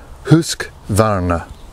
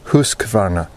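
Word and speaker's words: Husqvarna: Adventure Channel husk Varna some of you call it husk Varna kind of the Anglo pronunciation of the word but I think most of the swedes would agree or maybe they wouldn't but the proper pronunciation is is hus kav they make chainsaws make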